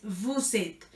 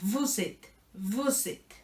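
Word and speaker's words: vous êtes: una aleación por eso la s suena porque la s se conecta con la e principal del principio y es bucete es una sola palabra buzzette siguiente hilson y Elson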